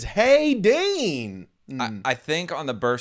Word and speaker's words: Hayyddeenn: It is HAYYDDEENN. And no, I don't have a stutter just then. It's Hayden, but all of the letters past, starting with the Y, they doubled up on.